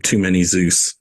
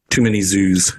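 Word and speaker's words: Too Many Zooz: All the music in this reminds me of Too Many Zeus, in a way. Too Many Zoos. Excuse me, I said it wrong.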